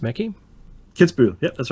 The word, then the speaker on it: Kitzbühel: On a hill farm outside Kitzbühel, how's that pronounced, Mackie? Kitzbühel, yeah, that's right.